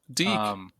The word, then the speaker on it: DIC: Deke. Deke. Okay, that is how it's pronounced.